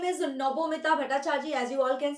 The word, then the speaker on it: Nabamita: So bachos, my name is Nabamita Bhattacharya. As you all can see, Nabamita Ma'am. Yes, Nabamita, since I'm a Bengali, so you pronounce it as Nabamita.